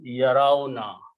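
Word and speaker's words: يرون: And we pronounce yarauna. Okay. This alif sound goes here to make it easy on the tongue, because you two sukoons cannot be pronounced.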